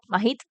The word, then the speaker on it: Mahit: Mahit, con H aspirada, ¿no? ¿Suena mejor? Mahit. Ahí estamos, Mahit, vale.